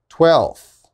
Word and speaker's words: twelfth: with native speakers is we don't pronounce the f we just skip it so for example if